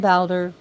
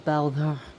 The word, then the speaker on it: Baldur: as you can see how I'm pronouncing his name is B of softy and a rolled R if you can't roll your RS that's cool but if you pronounce them bder that's that's between you